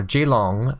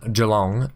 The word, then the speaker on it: Geelong: is fine because uh g long geelong or g-long however you want to pronounce it just geelong get um